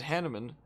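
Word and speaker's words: Hanneman: to learn oh and Hanuman as they pronounce it I look at it and I say Hanuman was a quick study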